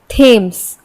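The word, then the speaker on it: Thames: दिस दैट देन there अब कई बार टी H Hindi का अक्षर ट की ध्वनि भी देता है जैसे थेम्स थॉमस तो इस तरीके से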